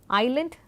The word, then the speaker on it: island: the modern English word, we eventually have this term island with the S remaining silent.